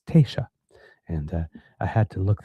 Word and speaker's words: Taoiseach: I have to, it's written, it is spelled Taoiseach, which, if I'm reading it, I would think it's Taoiseach, but because, of course, it's a Gaelic, it's Taoiseach.